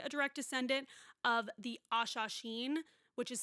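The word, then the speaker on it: Hassassin: proud to be a direct descendant of the Ashasheen, which is spelled like assassin with an H in front of it, but Aaron was listening to the audio book and he corrected me that it's pronounced Ashasheen, so I will be saying it that way.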